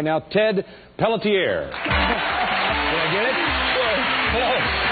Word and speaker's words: Pelletier: Pelletier. I said it exactly right. Pelletier, you said. You made too many syllables. It's Pelletier.